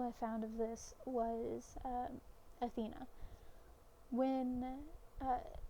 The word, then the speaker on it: Athena: for seemingly no reason it is widely accepted that Athena is spelled and pronounced Athena but in the and and not many people write it or spell it or say it as atheney there are some um